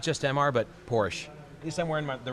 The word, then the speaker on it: Porsche: Not just MR, but Porsche. At least I'm wearing the right shirt today. Yes. And it's pronounced Porsche.